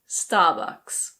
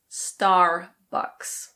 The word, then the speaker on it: Starbucks: In British English this is pronounced Starbucks. Starbucks. In American English the R is pronounced, so it's Starbucks.